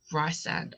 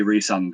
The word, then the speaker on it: Rhysand: of Thorns and Roses, they keep calling Rhysand. I know. I will admit, when I was reading it, that was how I was pronouncing it in my head. However, eventually, like, I trained my brain to say Rhysand, and that it makes more sense with Rhys for short.